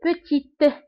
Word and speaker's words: petite: دونك بالنسبة لpetit ما كنطقوش تي، وفي الفيمينا كنطقوها، كنقول petite.